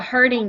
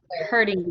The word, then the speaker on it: herding: is it alan a hurting dog right yes okay good that is called a herding herding dog h-e-r-d-i-n-g i wish i had